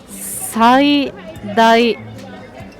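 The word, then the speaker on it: 最大: これはね、最大と読みます。最大 70% オフ。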